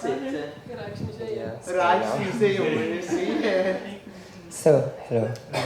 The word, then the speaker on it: Rijksmuseum: How do you pronounce it? Rijksmuseum.